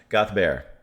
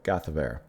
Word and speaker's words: Gaothdobhair: Gaothdobhair. Like, she said it almost in 2 syllables, while I'm saying it in several. Gaothdobhair. Gaothdobhair.